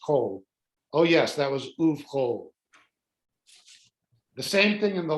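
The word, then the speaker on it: ובכל: So uv, you would think it was uv chal, but it's actually uv chol.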